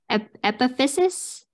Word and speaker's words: epiphysis: I'm going to mispronounce this, I'm sure, but epiphysis? You did not mispronounce it.